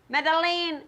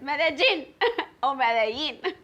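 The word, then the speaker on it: Medellín: the gene media but never made elaine madeline i'm going to madeleine there's no meddling it's medellin and yeah the engineer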